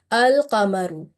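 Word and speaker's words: القمر: Okay, so we will pronounce this lam as a clear lam, and the word is al-qamaru.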